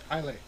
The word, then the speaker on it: Islay: Yeah, I think the Y is silent.